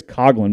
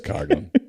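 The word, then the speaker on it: Coghlan: really on saturday yeah you didn't say his name correctly by the way it's world series champion chris coggin rookie of the year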